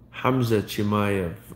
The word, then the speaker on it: Khamzat Chimaev: ride the wave like hamzat chimayev or i would pronounce it hamza hamza chimayo i'm assuming this is the uh caucasus mountain version they do the kh for the strong h in arabic the point is you